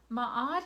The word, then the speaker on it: Ma'at: is ma'at you know ma'at and her name is spelled m a apostrophe a t ma'at is the goddess who you know the newly